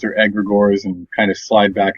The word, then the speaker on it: egregores: question and I'll say egregores or egregores and kind of slide back and forth so we're all saying it improperly and I've been told the first G is silent as in Gnome so just a little